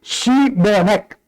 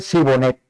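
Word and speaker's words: שבלת: Le añadían, pues, di Shibonet, pero si no podían pronunciarlo correctamente decían Sibonet.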